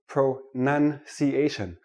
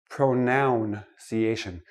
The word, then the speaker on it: pronunciation: we're looking at pronunciation let me start with this word pro none see asian not pronoun see asian it is not a pronoun a pronoun is i me my mind pronunciation is how we speak English so I'm gonna give